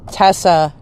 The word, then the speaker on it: Teysa: But in any case, I've heard it Teysa, Tessa, and I've always said it Teysa. Like, that's what the EY to me says.